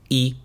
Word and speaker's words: y: Y tú, and you. The letter Y is pronounced like the English letter E.